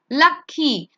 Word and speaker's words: lucky: Another example I can give you, lucky. U is there, it's a vowel, so that's why you pronounce Y over there and not I.